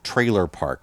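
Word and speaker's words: Treylor Park: yeah there are actually two of them called trailer park one's trailer park and the other one's trailer park hitch and it's spelled t-r-e-y l-o-r yes trailer park hitch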